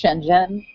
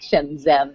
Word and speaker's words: Shenzhen: So whether it's California and then traveling, or whether it's Shenzhen, which is how they actually pronounced it, not Shenzhen like my name, I like a basis for home, for traveling.